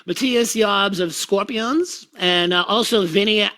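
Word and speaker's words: Matthias Jabs: schenker and matthias jobs you got the name right i did of course that's how you say it matthias jobs of scorpions and also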